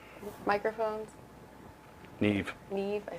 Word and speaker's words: Neve: He said he got the, what is it, New Wave microphones? Neve.